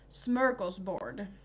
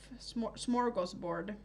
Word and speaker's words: smörgåsbord: Yeah, and you probably heard it in the smörgåsbord type of smorgasbord pronunciation, but smörgåsbord is the Swedish pronunciation.